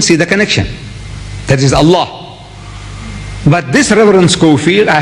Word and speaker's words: Allah: If it's A-L-A-H, is Allah.